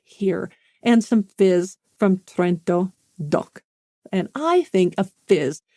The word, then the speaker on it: Trento DOC: sparkling wine of which you should partake is trento do that's how they say it they say trto do it's trto doc split out into its own